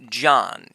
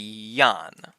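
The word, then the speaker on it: jan: So this word Yan, which means people, wouldn't be pronounced John. It would be Yan.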